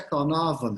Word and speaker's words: Caernarfon: Caernarfon, né? Mas se pronuncia Carnarvon, muito esquisito isso.